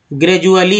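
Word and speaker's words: gradually: जैसे एक वर्ड है जी आर ए डी यू A double L वाई, ग्रेजुअली है, जिसमें डी को ज उच्चारण किया गया, ग्रेजुअली ग्रेजुएट, अब डत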